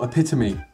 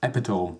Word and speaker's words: epitome: Also, epitome is a weird word, isn't it? Because realistically, it should be pronounced epitome.